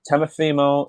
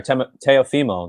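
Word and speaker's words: Teofimo: warming up uh and temafimo sorry teo femo that's pronouncing his name right tail femo seemed to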